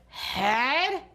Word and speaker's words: head: It starts with an H and it ends with a D, but we have that tricky, short E sound that's spelled with an E-A.